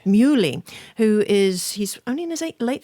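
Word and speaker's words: Muhly: with the American composer Nico Murli is that how we pronounce actually mu Lee who is he's a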